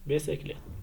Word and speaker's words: bicyclette: Donc, on a E, exemple, place, I, exemple, cercle, et Y, exemple, bicyclette.